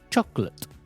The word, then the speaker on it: chocolate: Chocolate.